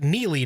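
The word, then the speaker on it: Neligh: mckinney is in neely nebraska yep that is pronounced neely nebraska where everybody is hanging out i hear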